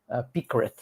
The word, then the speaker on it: PyCaret: conhecer o pacote do Picret. A pronúncia muda um pouquinho dependendo do idioma, mas geralmente eu falo de Picret.